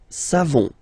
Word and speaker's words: savons: You don't pronounce the final S. Nous savons.